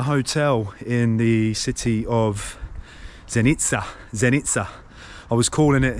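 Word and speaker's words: Zenica: staying at a hotel in the city of zenitsa zenitsa I was calling it xenica on my video blog of the area because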